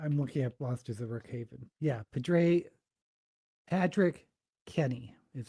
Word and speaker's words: Rook Haven: Um, I finished a book called The Monsters of Rock Haven, Rook Haven, which was by Patrick Ethanette corrected me of how to pronounce it.